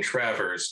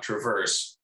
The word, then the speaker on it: Travers: I guess I should start, just in case my dad's watching, I should start and say that my name is actually pronounced Travers, not Traverse, but you guys can call me whatever you want.